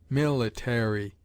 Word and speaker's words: military: a distinct enunciation and the popular habit is to say dictionary military with a secondary accent on the penultimate instead of sinking the third syllable as is so common in england there is no doubt